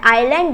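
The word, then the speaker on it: island: है और मतलब देखो इसे हम लोग इज लैंग नहीं पढ़ते हैं यहां पर एस क्या होता है साइलेंट होता है आइलैंड एक जगह होता है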